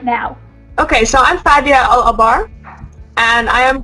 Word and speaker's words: Fadia: Fadia.